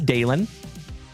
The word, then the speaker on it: Dalen: So remember, folks, my name is Dalen, D-A-L-E-N, like Dale plus N.